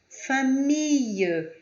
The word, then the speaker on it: famille: Agora, na palavra famille, famille, família. Fille, fille, é como se tivesse um Y em vez de dois L's. Fille, fille, ok?